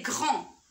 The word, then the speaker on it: grand: Pour la première phrase, le mot c'est grand. Il se termine par D. Je la vois, mais je ne la prononce pas.